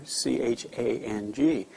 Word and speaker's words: Chang: You know, everybody comes over here and says, "I want a Chang beer," C-H-A-N-G. Well, they don't have that A sound. It's an Ah sound, Chang, and it's the word for elephant.